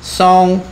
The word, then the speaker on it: 嵩: 高 with the ‘mountain’ on top Hows it pronounced? 嵩 Song? Yes. Song!